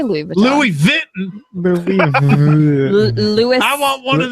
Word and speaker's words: Louis Vuitton: French representative because the American employees could not pronounce the brand right. How do you say Louis Vuitton? Louis Vuitton. Louis. I want one of them Louis Vuittons. I'll take a Lois.